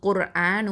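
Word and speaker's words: قُرْآنُ: இந்த ரா சுக்கூன் குர்ஆனு, இந்த ரா சுக்கூன் வந்து ஹெவியாக சொல்லணும். ஏன்னா ரா சுக்கூனுக்கு முன்னாடி உள்ள எழுத்தில் வந்து தொம்மா வந்திருக்குது. அப்போது நம்ம இதை ஹெவியாக தஃப்ஹைமாக தான் உச்சரிக்கணும். அடுத்ததான் லாம் ஃபத்ஹா அலிஃப் மத்து அலிஃப் சுக்கூன் லா 2 அலிஃப் நீட்டுவோம்.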